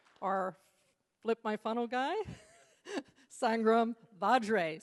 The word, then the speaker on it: Sangram Vajre: And our Flip My Funnel guy, Sangram Vajre. So we have a soft G and a hard J.